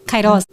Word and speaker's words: Kairos: Kairos, tá certa a minha pronúncia? Perfeita.